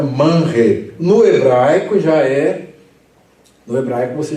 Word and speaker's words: Manre: Porque o R está depois do N. Então você tem uma sílaba fechada. Todas as vezes que você tem uma sílaba fechada, aqui no caso o N está fechando a sílaba, a vogal é um núcleo. Quando o R vem nessa sequência, né, de uma sílaba fechada, ele tem um som de re e não de re.